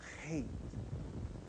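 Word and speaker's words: Heth: Pronounce it. Hate.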